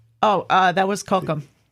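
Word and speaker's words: Cochem: That Oh, uh, that was Kokum. Yes, Kokum.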